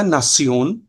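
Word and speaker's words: Nation: Difference होता है friends जैसे इनफेशन होगा आपका इंग्लिश में बट जर्मन में इनफसिओन नेशन होगा तो वो हो जाएगा नासियोन तो ऐसे ही आप जो है इनको देखिएगा।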